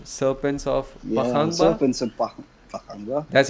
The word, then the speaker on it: Pakhangba: Serpents of Pakhangba.